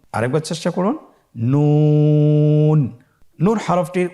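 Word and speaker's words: نون: নুন হরফটি উচ্চারণের ক্ষেত্রে অবশ্যই পাতলা করে উচ্চারণ করতে হবে এবং 3 আলিফ টেনে পড়তে হবে। আপনারা আমার সাথে বলুন নুন। আরেকবার চেষ্টা করুন নুন।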